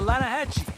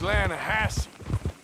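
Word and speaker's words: Lannahassee: The Lanahatchee. It runs right near here. Yeah, but it's pronounced Lanahassee.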